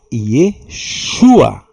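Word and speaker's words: ישוע: Então, a pronúncia desse nome era Yeshua. Yesua não vai confundir aí como aquela pronúncia lá do candomblé lá exu a ver com isso. Éua. Esse é o nome Yesua, que significa salvação ou Yahvé salva.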